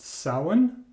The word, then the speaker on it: Samhain: So the next one I got is Blue, believe it's pronounced Samhain. It is Gaelic, I believe.